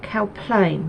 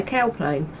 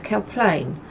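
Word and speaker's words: Cowplain: People here, you put their emphasis on the second syllable. So so if you want to get off the bus somewhere, the bus drivers will correct you if you say it wrong. So you have to say like Cow Plain, not, I'd say Cow Plain, but no, it's Cow Plain.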